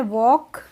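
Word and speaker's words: walk: है तो L silent ऐसे ही होती है वॉक तो इसमें भी एल साइलेंट रहती है तो हम इसको वॉलक नहीं पढ़ते हैं इसको हम क्या पढ़ते हैं वक पढ़ते हैं एंड व्ट्स मोर दिस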